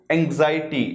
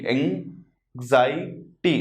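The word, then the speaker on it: anxiety: Anger यानी गुस्सा, और एंग्जाइटी, देखिए प्रोनाउंसिएशन क्या है? एंग्जाइटी, एंग्जाइटी, एंग्जाइटी यानी चिंता, जो हमें बिल्कुल भी नहीं करनी है।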